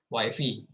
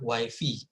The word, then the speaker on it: Wi-Fi: ya, Anda sering pakai Wi-Fi, ya, bacanya Wi-Fi, bukan Wi-Fi ya, Wi-Fi bacanya.